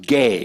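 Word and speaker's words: gē: E-A-R-T-H, right, earth, it is the Greek word gay. Now, it's the word G-E. It's pronounced gay.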